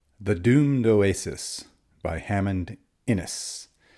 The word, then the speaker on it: Innes: doomed Oasis by Hammond inis I think that's how you pronounce his last name i n n s